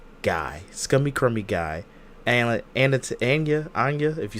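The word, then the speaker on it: Anya: just scummy crummy guy scummy crummy guy Anna an ana ana if you say her name correctly Ana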